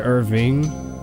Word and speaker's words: Irvine: Irvine is how I pronounce it, but I do hear other people pronounce it Irving and don't correct them.